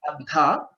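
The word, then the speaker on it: अध: Okay, and not that since Dhakara is a Mahaprana, we should say take all the energy and put out more energy to say Dha. Even that is not the right way of pronouncing it. Okay, Adha, that is how it has to be pronounced.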